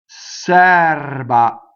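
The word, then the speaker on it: serba: Sɛrba, open, Sɛrba, not chair, doesn't rhyme with chair, right? Sɛrba, the R rolls, it touches the B.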